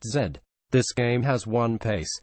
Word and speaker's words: Z: of this mid to late 90s glut was said pronounced Zed this game has one pace breakneck it was